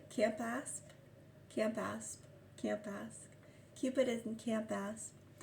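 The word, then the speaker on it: Campaspe: Camp Asp. Cupid is in Camp Asp. Sorry, C-U. C-A-M-P-A-S-P-E. Camp Asp. It's one word, camp, like going camping, camp. C-A-M-P. And asp, A-S-P-E. Camp Asp.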